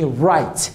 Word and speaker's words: right: Right. GH not pronounced here.